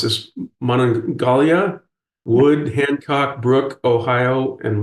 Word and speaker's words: Monongalia: I'm sorry I'm not sure I pronounced this Monongalia wood Hancock Brook Ohio and Marshall is that correct that's that's correct Gary yes and what is the current correct pronunciation we'll we'll work on your pronunciation though manalia manalia okay well H you are you are